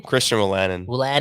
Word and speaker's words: Christian Wolanin: Christian Wolanin.